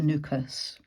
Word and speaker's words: Nukus: to catch a flight from Tash Kent to nukas um that's how you spell it n u k u s and that